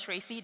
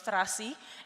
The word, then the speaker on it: Tracy: you know tracy trinita indonesian doesn't pronounce tracy they pronounce rasi and traci means smelly fish how is that for